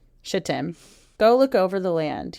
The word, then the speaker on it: Shittim: and Tim that's exactly how it's spelled shittim go look over the land he said especially